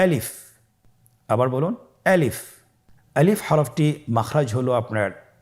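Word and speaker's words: ألف: তাহলে এটাকে কি বলে আলিফ আমাদেরকে বলতে হবে বলুন আলিফ আলিফে কিন্তু কোন টান নেই আপনারা বুঝতে পারতেছেন আমি যখন আলিফ বলছি এর মধ্যে কোন টান হবে না। আলিফ আবার বলুন আলিফ।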